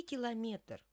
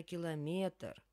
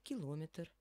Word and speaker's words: километр: Я занята вот сюда и километр конечно километр хотя есть личности которые говорят километр А мы будем говорить правильно километр Давайте дальше пойдём Мы